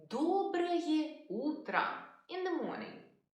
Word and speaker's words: Доброе утро: We say Доброе утро in the morning. Доброе утро.